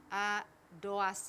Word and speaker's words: Adoasi: I'm sitting here with a special guest, William Adoasi.